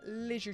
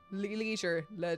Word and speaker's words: leisure: Normally a leisure spot. Leisure leisure. Heard it pronounced both ways.